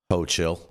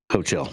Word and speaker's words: Hochul: Jason, how do you pronounce the governor's last name there? Hochul. Hochul.